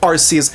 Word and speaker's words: Arceus: Of course, it's arrophone regardless of how we pronounce arcus because name a single word in the English dictionary that ends with C and is pronounced S.